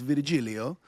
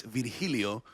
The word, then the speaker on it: Virgilio: The name is Italian, which could probably be pronounced Virgilio, but in Spanish, it's Virgilio, and it's my father's name.